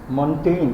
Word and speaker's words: Montaigne: Montaigne, the pronunciation is it is this G, okay?